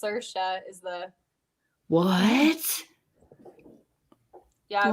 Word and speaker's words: Saoirse: That's how you pronounce her name. She's Irish. It's Saoirse is the What?